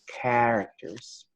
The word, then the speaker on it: characters: something like this characters we don't pronounce the CH we pronounce it as a que Oh Monica so we say characters it's got a Pettis